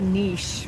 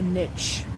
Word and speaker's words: niche: it's necessary to have a niche or a niche, people pronounce it different ways, right? Niche, niche, same thing.